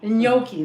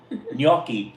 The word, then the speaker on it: gnocchi: my boy gano noche i don't know how to say that gnocchi gnocchi that's it and i know it's very italian gnocchi gnocchi i love that if you want to say it like a real italian yucky anthony is the